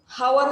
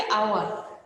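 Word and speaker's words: hour: হাওয়ার হবে না, কি হবে? আওয়ার।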